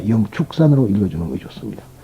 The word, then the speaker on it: 영축산: 해서 독수리 출전하고 그래가지고 우리는 불교에서 취 라고 읽으면 안 됩니다 영축산 으로 이루어 주는 것이